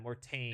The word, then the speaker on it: Mortain: I'm gonna butcher the pronunciation. Is it Mortain? Mortan? yeah, Mortain.